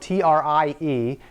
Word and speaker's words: trie: we talk about a trie, which is horribly named. It's spelled T-R-I-E, which actually looks like tree as well, but it's not. It's a type of tree called a trie.